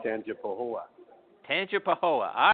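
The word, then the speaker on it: Tangipahoa: got to set me straight how do you pronounce the home your hometown it's called tan pooa tanip pooa all right there we go wow so Michael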